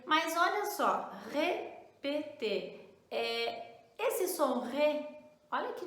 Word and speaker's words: répéter: Isso mesmo, répéter. Mas olha só, répéter.